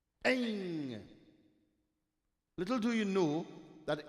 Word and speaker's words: Aing: It is spelled A-I-N-G with a dot on top. Aing.